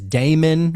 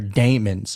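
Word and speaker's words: daemon: And so Frank may actually represent Donniey's higher self, his Damon or it's it's pronounced demon, but it looks like Damon.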